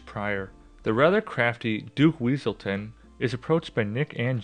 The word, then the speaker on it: Weaselton: What were you going to do with those night howlers, Wesselton? It's Weaselton.